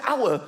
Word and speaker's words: hour: Why is the word hour spelt with an H? Why is there an H? The silent H.